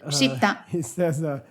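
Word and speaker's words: གཞི་བདག: 它的发音是 Shibda，我们要发出 B 这个音 Shibda。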